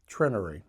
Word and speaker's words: Trenary: My town is very small and it's pronounced Trenary.